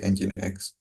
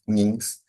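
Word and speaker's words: nginx: engine X web server so engine X it's pronounced like engine X not NS is an open source software that serve multiple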